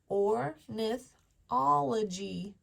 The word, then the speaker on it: ornithology: I have 1, 2, 3, 4, and I'm going to use the Y as a vowel, 5. And there's 5 syllables. 1, 2, 3, 4, 5. Now I can read it. Ornithology.